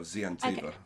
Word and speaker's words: Xiantiva: Yeah, you pronounce the X like a Z, so Xiantiva.